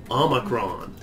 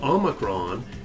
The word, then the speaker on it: omicron: This one that looks like our O, Omicron, is for off.